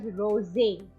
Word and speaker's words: Rosé: Okay, now specifically what you have written R-O-S-E with an accent, that is pronounced as rosé because it has got an accent.